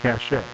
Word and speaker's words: cache: Or is that cache, I guess it's pronounced now. We used to say cache, and then we were told, no, that's improper. If you're an erudite, intelligent American, when you read that word, you have to say cache, even though it looks like cache. I had to learn these things the hard way.